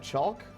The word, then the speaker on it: chalk: Chalk. You say chalk. You don't pronounce the L.